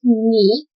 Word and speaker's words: 你: You is pronounced 你 in Mandarin Chinese.